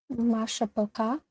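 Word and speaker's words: מִשְׁפָּחָה: Mashapaka.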